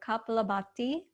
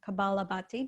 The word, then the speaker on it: Kapalabhati: called skull shining or kapla bhatti or kabalabati depending on how you say it and skull shining requires